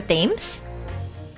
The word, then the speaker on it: Thames: dams how do you how do you pronounce this Thames like the river themes themes okay the river themes